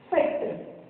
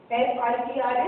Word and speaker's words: Fitr: Okay, Eid ul Fitr. F-I-T-R is Fitr.